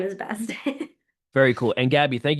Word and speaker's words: Best: my last name's actually Best.